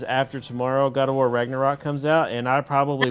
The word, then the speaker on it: Ragnarok: Ragnarok.